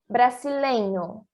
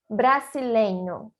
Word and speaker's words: brasileño: Por exemplo, seria fraca quando se formos falar brasileño. Repete de novo, por favor. Brasileño. Muito bem. Brasileño. Aqui o R seria igual ao do Brasil, em português.